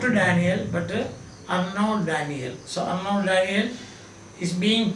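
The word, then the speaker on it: Arnaut: n a u t But the T is silent. So we don't say unote Daniel but Arnold Daniel.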